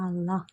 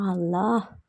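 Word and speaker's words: الله: അപ്പൊ യാ അള്ളാ അള്ളാ അതിന് last who എന്നുള്ളത് ഹ് എന്ന് കേൾക്കണം ആ ഒരു രീതിയിൽ ഉച്ചരിക്കണം അത് എല്ലാവരും ശ്രദ്ധിക്കേണ്ട ഒരു കാര്യമാണ് ഹ് എന്നുള്ള അക്ഷരം ആ അക്ഷരത്തിന്റെ ആ ഒരു ഉച്ചാരണം അവിടെ കേൾക്കണം നമ്മൾ പൊതുവെ പറയുമ്പോൾ യാ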